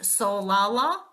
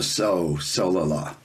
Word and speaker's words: Solala: Solala. Accent on the Solala.